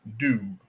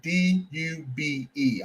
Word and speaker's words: Dube: The South African person who came over and talked and met with Booker T was John Dube. His last name is spelled D-U-B-E.